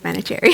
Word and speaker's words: Manoucheri: when people see our last name and they try to, pronounce it like, oh, is it Manoucheri? Just it sounds fancy, but it's simple, Manoucheri.